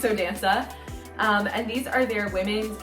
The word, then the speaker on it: Danca: I think some people pronounce it Danca, but I say Danca.